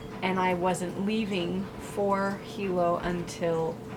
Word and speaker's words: Hilo: the entire travel vlog i was saying it wrong um it's hilo not hilo i was landing tuesday